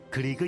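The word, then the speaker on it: Grieg: 그 이룰 이름이 그리 우리가 면도기로 발음으로 크리크 라고 얘기하고 또 에드바르트 뭉크 리 큰 뭐 이렇게 부르기도 하지만 보통 우린 교과서에 있는 대로 얘기라면 그리그 라고 부릅니다 이 사람은 사실 자꾸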